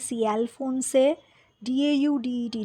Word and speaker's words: Alphonse Daudet: Alphonse, Alphonse, Daudet, Daudet. Daudet actually, pronunciation.